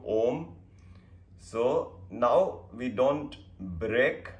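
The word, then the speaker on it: ॐ: three times and next we combine our ah uma and make it om so how to do ohm so now we don't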